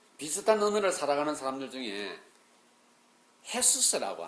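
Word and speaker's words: Jesús: 비슷한 언어를 살아가는 사람들 중에 헤수스라고 하는 지저스가 제이가 히읗 발음이라 헤수스라는 이름이 대단히 많습니다.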